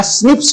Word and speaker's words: SNPs: Single nucleotide polymorphism या स्निप्स कहते हैं। इस SNPs को हम प्रोनाउंस करते हैं स्निप्स। SNPs नहीं बोलेंगे, बल्कि हम इसे बोलेंगे स्निप्स।